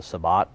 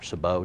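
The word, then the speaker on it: sabot: band in the middle which they called the sabbat or sabo depending on how you pronounce it and a cup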